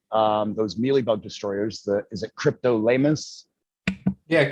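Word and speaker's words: Cryptolaemus: Is it Cryptolamus? Yeah, Cryptolamus montroseri is how I pronounce it.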